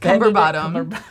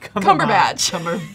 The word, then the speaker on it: Cumberbatch: Benedict Cumberbottom. Cumberbatch.